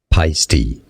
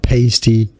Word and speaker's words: Paiste: what I mean here pisty is how it's pronounced not pasty wow py pisty not paste pisty not paste not